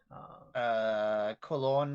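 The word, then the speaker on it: Colón: Cologne, like spelled like colon. Like COLO with a little doohickey over it, N.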